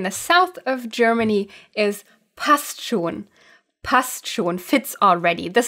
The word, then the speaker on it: Passt schon: Also, again, commonly pronounced while leaving out one of the letters, namely the N in the word schon. Passt schon. Passt schon.